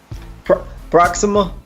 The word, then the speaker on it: Proxima: Am I pronouncing that right? Proxima.